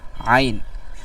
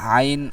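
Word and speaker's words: عين: তা এরকম না বরং আইনকে গলার মধ্যে থেকে সুন্দরভাবে উচ্চারণ করতে হবে আইন সদ জবর আস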